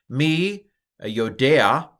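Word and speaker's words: מִי יוֹדֵעַ: you can pronounce this here's how I pronounce it me yodea okay what do you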